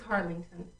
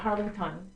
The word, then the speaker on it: Harlingten: Okay, it's Harlingten. Harlingten. Yeah. Not Harlington. No, Yeah.